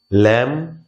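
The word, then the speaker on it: lamb: কম, ক্লাইম, ল্যাম, এভাবে আমরা বির উচ্চারণ শেষে আর আমরা করব না।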